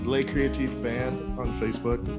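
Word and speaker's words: Les Créatif: So it's LESCREATIF. You can search that on Spotify, whatever, social media, and all of that. So not less creative, because we get that at every show we've performed.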